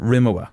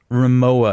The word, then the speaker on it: Rimowa: the smaller one and I used to call it Rimmer WA right then it was Rimowa I thought we're actually